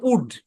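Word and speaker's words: would: উ পুরোটা মিলে উচ্চারণ উড ব্যাস আর ঘাটার দরকার নাই ভাই উড এল টা সাইলেন্ট ব্যাস এতটুকুই এল টা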